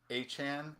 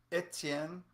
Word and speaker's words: Etienne: Everybody pronouncing Etienne as Achan is like, how more American can you be? Like, America. Um, Etienne is a French pronunciation of the last name.